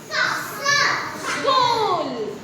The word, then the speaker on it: school: one is s so school school school as we we learned about this where H is silent is it okay next